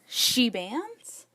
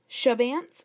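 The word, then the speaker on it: Chebanse: is really great too they're all like sheans sh bant no it's shabans or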